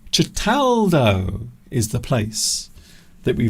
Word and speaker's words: Certaldo: Cataldo. That is how you pronounce it. So I mispronounced it earlier, for which I apologise. Cataldo. Cataldo is the place that we visited in Italy.